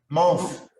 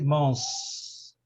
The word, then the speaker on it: month: Day, week, month. Esse TH aí, ele é pronunciado com... O TH, ele é pronunciado com você colocando a língua na ponta dos lábios.